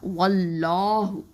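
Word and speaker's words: وَاللّٰهُ: இந்த லாம் வந்து என்ன அப்படின்னு பார்த்தீங்கன்னா, அல்லாஹுங்கிற வார்த்தைக்கு முன்னாடி வாவில் வந்து ஃபத்தா இருக்கிறதுனால நம்ம என்ன சொல்லுவோன்னா, இதை தஃப்ஹீமாக தான் இந்த லாமை உச்சரிக்கணும். ஓகேவா? அதாவது ரொம்ப அதிகமாக நல்ல வாயை ஓப்பன் பண்ணி சொல்லுங்கள்.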